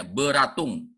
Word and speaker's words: Beratung: penyuluhan kemudian Jerman nah ini dia hati-hati bacanya beratung bukan belatungnya beratung petunjuk pakar kepada seseorang